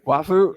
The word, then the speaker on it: waifu: literally in Bryce's notes, he's got like how the Evangelia and like, I mean, I mispronounced this too. Evangelion. Yeah. Wafu. Waifu?